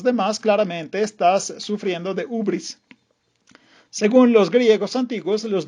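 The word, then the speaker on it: hybris: toda la historia griega se escribe ibris con la i griega ubris se pronuncia se puede traducir más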